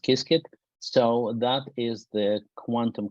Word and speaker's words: Qiskit: Pronounced Qiskit.